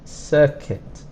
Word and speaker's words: circuit: is a circuit and for the sir sound it's an i and the kit we don't really pronounce this U it's not kuwit it's Kit circuit connect to join things